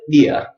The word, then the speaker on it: beer: Like you're saying, and you just b in front of it, beer, beer, beer. So that's British pronunciation. Americans, we never say ia, ia. Okay, we give it the strong R, beer, beer.